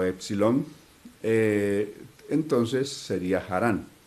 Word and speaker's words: Harán: Las otras versiones dicen Harán, ya que la H en muchos casos antiguamente tenía el sonido también como de la J que nosotros pronunciamos ahora. Entonces, por eso aparece como Harán o Harán. Si la H se toma como muda, simplemente sería Harán, pero si la H se toma como con el sonido también que tenía la